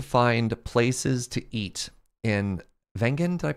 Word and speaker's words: Wengen: were trying to find places to eat in wengen did I pronounce it right yes um are you gonna